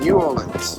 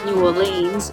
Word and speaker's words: New Orleans: channel we're here in New Orleans now we Aussies like to pronounce it New Orleans but it's actually New Orleans uh so we've been